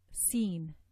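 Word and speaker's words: س: One of them is that the tongue is elevated here at the back for sad, but for Seen it will remain down.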